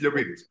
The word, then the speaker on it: Liopyris: You said my last name perfectly, Liopyris. Exactly. Critical. Like in the US, they would always pronounce me Liopyris. Or, it makes sense. It makes sense. But yeah, it's Liopyris.